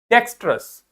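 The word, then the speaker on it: dexterous: आर ओ यू एस डेक्सस क्या पढ़ते हैं इसको डेक्सस डी ई मतलब डे एक्स मतलब एक्स टी मतलब टे हमने वो श वाला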